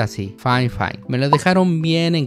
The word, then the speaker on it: Fifine: llegar a ser demasiado costosos y si se pronuncia así fine me lo dejaron bien en claro por correo